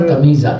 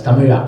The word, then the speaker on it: Tamizha: that's not Tamizha, that's Tamila.